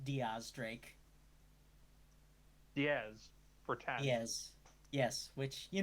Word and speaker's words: X Drake: One Sir Francis frake also his name is pronounced Diaz Drake which is why I take issue with the